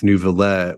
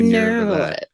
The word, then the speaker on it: Neuvillette: I know, like, half of the characters say Nouvellette. There's no R.